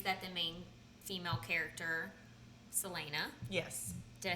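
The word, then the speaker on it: Celaena: Different stories that the main female character, Selena. Yes. Did I say it right? Yes. Selena. Yes. Selena, yeah.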